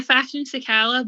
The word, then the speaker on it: Fashion Sakala: Are we agreeing how you pronouncing it, Jodie? Yeah, Fashion Sakala, but I always get chinned for the way I pronounce things, so I wouldn't take my advice.